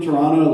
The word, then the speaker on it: Toronto: Toronto I feel like if you're really from Toronto like there's less consonants in the word like it's just Toronto it's just like two syllables Toronto uh and then